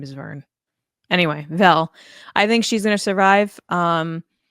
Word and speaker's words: Vel: I wanna say her name is Vern. Is it not Vern? Is it Vel? Vern? Vel, thank you. I don't know why I thought it was Vern. Hmm. Someone's name is Vern. Anyway, Vel.